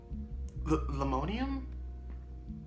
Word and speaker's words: linoleum: on the little floors, linoleum floors. I don't think that's how you say it. It sounds like aluminum, but it's linoleum?